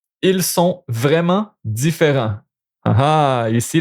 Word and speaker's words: sont: So, sont, you pronounce that. Sont. You don't pronounce the T, but sont.